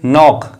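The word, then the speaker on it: knock: एन से करते हैं इसीलिए हमने इस वर्ड को का नाक नहीं पढ़ा है इस वर्ड को हम पढ़ेंगे नाक क्योंकि के क्या होता है साइलेंट होता है अब हमारे पास अंतिम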